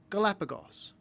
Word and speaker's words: Galapagos: It's pronounced s after a short vowel, Galapagos.